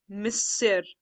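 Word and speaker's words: Monsieur: guide is uh saying bonjour Mis this word is pronounced as Miss bonjour Miss so the tourist is saying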